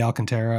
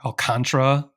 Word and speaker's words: Alcantara: I mean, Sandy Alcantara or Alcantara, I've heard it pronounced both ways multiple times.